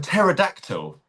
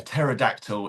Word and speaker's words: pterodactyl: to spell pterodactyl it actually starts with the letter P. It's P T E. Here we go. I'll show you the joke. Why can't you hear a pterodactyl in the bathroom? Because the P is silent.